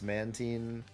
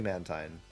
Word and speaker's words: Mantine: care if you say that it's Mantine. It's definitely Mantine. It's Mantine. It's definitely Mantine. Yeah, I'm Team Mantine Yeah.